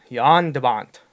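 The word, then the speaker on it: Jan de Bont: directed by yonder bond I had to research the pronunciation Dutch way to say his name because it's written if you got a butcher the American English such and Avant but it's it's Yan Yan de Bont he left a movie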